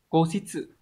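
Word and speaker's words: 固執: Từ này đọc là cố xít sự, có nghĩa là cố chấp, ngoan cố, khăng khăng khẳng định ý kiến của mình mà không chịu nhường.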